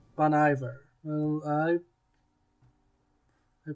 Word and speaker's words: Bon Iver: know that he's in some way involved bon iver bon iver well i i pronounced bono bear you know it it is i believe i